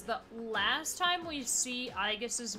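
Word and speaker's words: Aigis: Because, at least by Q2, because of the pun for Aegis, which I always said Aegis, because I think that's what they were going for, it is spelled A-I-G-I-S.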